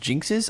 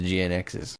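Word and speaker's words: GN-X: didn't know this but in English they're pronounced jinxes I've been reading this thing for like 15 years as GN X's I don't think I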